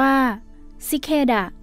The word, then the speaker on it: ชิคาด้า: ชิคาด้า ชิคาด้า อ่าน ออก เสียง ว่า ชิเดะ ตาม สำเนียง อเมริกัน คำ นี้ แปล ว่า